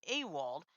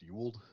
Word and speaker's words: Ewald: it is, Shirley, when you see EW in a name, typically it's pronounced U, not EW. Okay, Ewald. Yeah. Okay, Kind of like Ewan McGregor.